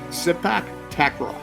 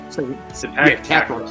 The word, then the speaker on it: Sepak Takraw: How do you pronounce it? Sepak Takraw. S-E-P-A-K. Sepak Takraw. T-A-K-R-A-W. One word or two?